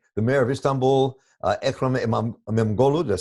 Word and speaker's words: İmamoğlu: I mean, the mayor of Istanbul, Ekrem İmamoğlu, did I say his name right? İmamoğlu, yes.